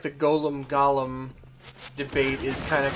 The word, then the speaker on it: golem: with his five flesh Golems and yes I still say Golem even though I've heard it in games pronounced Gollum I remember a story